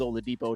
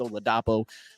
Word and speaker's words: Oladapo: you pronounce the name I thought it was Oladipo it's oladapo I don't know maybe he's